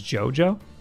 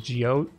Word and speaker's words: JoJo: saw one oof ouchies it's pronounced as jojo jojo why did i say it jio you said jojo piranha plant how are you